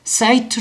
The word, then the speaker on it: sight: 준다라는 거네 여기도 마찬가지죠 이렇게 되면은 시트지만 여기에 이렇게 돼서 이렇게 들어 있으면 여기가 소리가 나지는 않지만 요거를 시트 시트라고 읽지 않고 시트 사이트 하고 있는다는 거죠 그래서 여기 소리가 나지